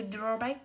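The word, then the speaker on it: drawback: Thì cô sẽ có này, câu số 5 từ draw back, từ ghép của từ draw và từ back, vậy trọng âm sẽ rơi vào draw.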